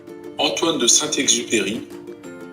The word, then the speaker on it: Antoine de Saint-Exupéry: Jadi saya coba lihat ya pronunciation-nya. Antoine de Saint-Exupéry.